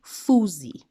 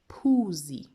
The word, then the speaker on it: phuzi: Now I've underlined here just a little bit so we can remind ourselves that in Zulu, the P and the H, they don't make the F sound like in English.